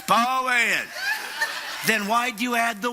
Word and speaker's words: Poyen: You make only Southerners can make two syllables out of one word. That's what I'm saying. Poyen, that's what it's Poyen.